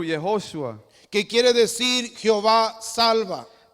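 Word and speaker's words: יהושע: que se pronuncia en hebreo Yehosha, That is Yehoshua, That is pronounced in Hebrew Yehoshua.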